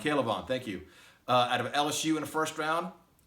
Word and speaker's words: K'Lavon: How do you pronounce it, John? I think it's K'Lavon. K'Lavon, thank you.